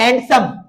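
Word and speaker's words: handsome: का मतलब होता है हैंडसम और हैंडसम में डिसाइलेंट रहता है हैंडसम पढ़ते हैंडसम और या फिर हैंडसम पर्स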